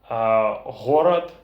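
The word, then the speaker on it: горад: sounds that are different the sound who in burleson and gu in russian for example horrid gorod Halawa galava hiroi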